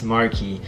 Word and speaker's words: Marque: name wrong i apologize it's marquee it's just i don't know i know someone that's that's like name is like that it's mark but it's like you know what i'm